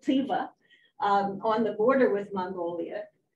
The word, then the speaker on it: Tyva: And then Tuva, and they like to pronounce it Tyva, on the border with